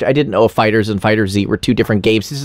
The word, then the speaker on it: FighterZ: have the best songs wait fighters are fighter z uh people pronounce it fighters because that uppercase is dumb oh okay we are talking about fighter z the actual proper name is fighter z yep i just there's